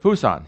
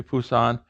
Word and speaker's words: Busan: so it's written j-e-j-u so the new romanization will look at busan the old city of busan busan busan how's it sound to